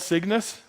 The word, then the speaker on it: CYGNVS: It's called Cygnus. It's spelled really weird. It's like CYGNVS.